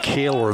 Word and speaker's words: Kohler: I think I'm going to pronounce it Kaler the way it's spelled.